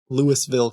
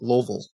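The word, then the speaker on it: Louisville: They would always ask me where I lived and and so I would say Lewisville, Kentucky. And then people were like, "No, it's Loville."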